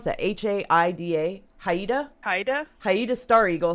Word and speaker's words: Haida: native american intelligence officer captain how do you pronounce that h-a-i-d-a haida haida haida star eagle 17-year veteran of